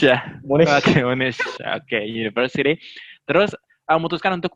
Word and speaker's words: Monash: Gimana pronunciation-nya? Monash ya. Oke, Monash.